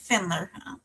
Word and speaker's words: Pfendler: Um, so Kelsey Finler, I'm assume her last name is um has a silent P on it.